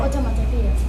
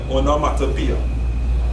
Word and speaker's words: onomatopoeia: Pronounce One. Automatopoeia. One, that's all. Let me hear it again. Automatopoeia. That's all. Let's slow down. Onomatopoeia. Onomatopoeia.